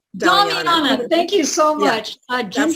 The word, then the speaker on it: Damiana: I can't even pronounce this one, but the Damiana. Damiana, thank you so much.